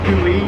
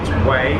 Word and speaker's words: Hue: So for tomorrow we're going to be waking up in Hue, which is spelled H-U-E. So it sounds like Hui, but or Hue, which I thought it was previously, but it's Way.